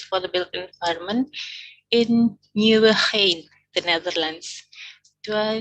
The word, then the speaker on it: Nieuwegein: Sustainable Consultancy Services for the Built Environment in Nieuwegein, the Netherlands. Do I spell it right? It's not an easy city to pronounce. Nieuwegein.